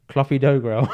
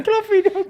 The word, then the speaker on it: Clopidogrel: Clopidogrel. Yes! Dickhead. Clopidogrel, mate. Not Clopidogrel. There's no dogs here. Clopidogrel.